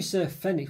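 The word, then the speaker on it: Fenwick: know there's a Hu Fenix what did I say fenx yes Fenix okay with a silent W in the center of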